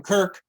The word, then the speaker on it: KERC: $100 gift certificate from Kirk or the Ojibwe Cree Cultural Center or the Purple Camel.